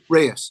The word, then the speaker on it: Reyes: It's Reyes, right? Yeah. Oh, How do you pronounce it? Reyes. You're right. You're correct.